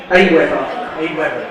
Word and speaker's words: AWeber: The best alternative is Aweber. Aweber. Yeah, so that's spelled A-W-E-B-E-R.